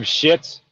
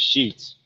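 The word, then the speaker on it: Sheetz: ritters do you have shits or I'm sorry I think it's pronounced sheets I still call it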